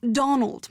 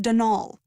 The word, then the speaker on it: Donal: caretaker Donald Delaney not Donald mind you there's no D at the end so it's pronounced danal that's the way you're